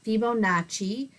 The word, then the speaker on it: Fibonacci: His first name was Fibonacci, or I'm sorry, his family name, his second name is Fibonacci, and it's pronounced Fibonacci. You could see that the Italian maybe in it.